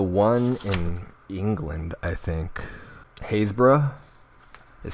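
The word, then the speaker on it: Happisburgh: go over the one in England I think Hayes bruh it spelled phonetically happiest borough but it's Hayes pronounced Hayes bruh let me just pull this up here so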